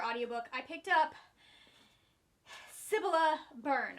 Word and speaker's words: Cibola: book i picked up sibila burn i finally know how to say it it is ebola burn um it's jefferson maze